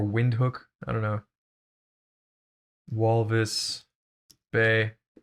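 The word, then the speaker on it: Windhoek: boroni and then there's vent hook which apparently is pronounced vent hook um or wind hook i don't know walvis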